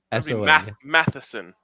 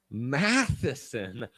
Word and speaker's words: Matheson: for you all right mathson m-a-t-h-s-o-n n-a-t-h-e h-e-e-s matheson matheson hell yeah i like that that last name slaps when you pronounce it like that just like slivskovsky slavkowski